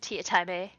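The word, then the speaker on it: Teatime: Tea Time, Mr. Tea Time, who pronounces it Tea Time A.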